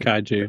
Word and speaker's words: kaiju: What's the pronunciation? Is it kaiju? Is that how they say Yeah, it? kaiju.